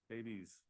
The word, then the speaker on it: Davies: That's really- All right, we have Amy, is it Davies or Davis? Davies. I said it right the first time.